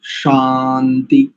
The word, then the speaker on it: शान्ति: शांति शांति है ना, ये शांति बिल्कुल ठीक आना चाहिए, शकार और उसके बाद आकार। कई बार शांति श यानी आधा श और या जोड़ करके शांति ऐसा उच्चारण प्रायः करके आता है, तो उसमें स्पष्टता से रखें कि आपका उच्चारण की जो ध्वनि है बिल्कुल ठीक हो, शा शांति ऐसा।